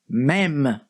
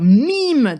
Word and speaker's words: mème: En français, ça se prononce même. Vous pouvez dire mime, tout ce que vous voulez, comme vous voulez, y a pas de souci vraiment.